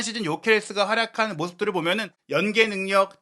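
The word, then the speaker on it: Gyökeres: 헝가리 계열의 선수다 보니까 이 이름 발음이 헝가리식으로 읽으면 죄케레스, 실제로 이제 스웨덴식으로 읽어도 예케레스인데 지금 많은 팬들에게 요케레스로 알려져 있기 때문에 저희도 혼선을 드리지 않고자 우선은 요케레스라고 얘기를 드리고 있는데요.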